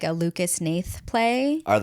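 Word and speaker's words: Hnath: No, I think it's just Nate, but it's spelled it's H N A T H.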